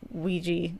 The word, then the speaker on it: Ouija: out in October which I keep wanting to mispronounce because Ouija does not look like how it's spelled Michael B produced horror